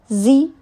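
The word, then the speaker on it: xi: Zi, pronounced like she, which connects the whole body.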